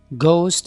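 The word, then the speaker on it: ghost: And which, इसी तरह एच से पहले आर आ जाए, रिदम, राइनोसरस, और एच से पहले अगर जी आ जाए तो भी एच साइलेंट होगा, घोस्ट एंड गैस्टली।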